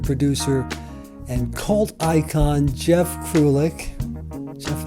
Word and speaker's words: Krulik: Today's episode features filmmaker, producer, and cult icon Jeff Krulik. Jeff, how you doing? Did I pronounce that right? Yes. Jeff? Krulik, yeah. J-E-F? No, Jeff. I know how to pronounce Krulik.